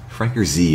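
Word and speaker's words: FrankerZ: say it out loud you pronounce it as with the Z as its own thing or just make it a very Z plural Frank or Z apparently got it now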